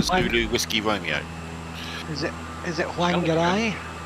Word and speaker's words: Whangarei: Is it Whangarei? It's actually the WH is an F, so it's a Whangarei. Okay. Whangarei.